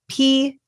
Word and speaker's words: Peitz: Why don't you spell it out for the audio listeners, just so they Yes, my last name is Peitz.